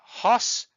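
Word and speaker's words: ὅς: The masculine first, so we have hos, hu, ho, and hon. Remember that is a rough breathing mark, so we pronounce it with an H sound in the front.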